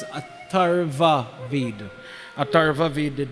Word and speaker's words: Atharva Ved: I heard somebody said Atur. There's no thing as Atur Ved. It's Atharva Ved.